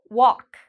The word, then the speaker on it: walk: Okay, we have the A. So this means the L is silent. Walk.